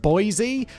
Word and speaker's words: Boise: living in Boyce which I think it's pronounced Boise but it's like boy Idaho and having worked for